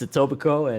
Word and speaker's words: Etobicoke: from from ontario who told me that the k is silent and and that made me realize i was saying it wrong the whole time but yeah it's etobicoke and and uh what